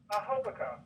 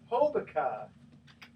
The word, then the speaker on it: Hobica: That is how you pronounce it, right? Hobica. Hobica. Okay, let me make sure I got that because I've been trying to do Hobica all this time. Okay, so Hobica.